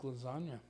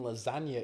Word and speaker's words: lasagna: The Hunger Games and the g in lasagna is silent oh in the word